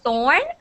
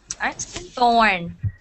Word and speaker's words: thorn: like when you say thorn your tongue has to come out like this thorn thorn and torn torn your tongue isn't coming out but your mouth is going like torn yes all right so